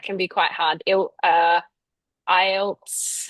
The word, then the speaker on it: IELTS: Uh IELTS. How do you say it? Yeah. I IELTS. IELTS.